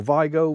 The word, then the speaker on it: Vigo: coast of Spain and over to uh VGO I think it's pronounced VGO or Vigo VGO on the west coast of